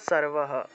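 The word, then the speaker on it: সর্বঃ: করতে হবে মনে করেন মনে করুন যে এই সর্ব আর বিসর্গ আছে এখন এই সর্ব শব্দটা কোন একটা লাইনের বা কোন একটা মন্ত্রের একদম শেষে সর্ব আছে আর শেষে বিসর্গ আছে তাহলে উচ্চারণটা সর্বহ সর্বহ এভাবে উচ্চারণটা আসবে সর্বহ আর যদি কোন শব্দ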